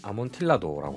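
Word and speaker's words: Amontillado: 캐스크에서 숙성한 후에 추가로 아몬티아도 미국식 발음으로는 아몬틸라도라고 하죠 이리 캐스크에서 피니쉬를 입혔습니다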